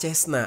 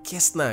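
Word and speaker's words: Cessna: Dan pesawat pertama yang berhasil dia curi adalah pesawat Cesna atau Kesna gitu ya bacanya.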